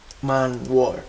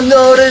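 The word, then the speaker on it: 만월: (Giám đốc âm nhạc) Không phải là "man-won" (Giám đốc âm nhạc) Mà là "man-wol" [JO chỉnh phát âm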